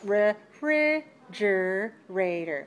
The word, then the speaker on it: refrigerator: is that true so in the word refrigerator yes let's identify which of the syllables refrigerator which ones are the weak ones the first one the third one and the last one yes those are the weak syllables yes and the second syllable is clear stressed the fourth syllable is clear unstressed yes did you have